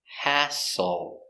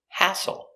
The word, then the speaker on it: hassle: can be a hassle pronunciation hassle a ha open Sound a ha s h a h h hassle hassle stress on the first syllable hassle hassle let's practice when